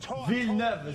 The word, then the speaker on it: Villeneuve: Yo, Villeneuve. Villeneuve, is how you say it.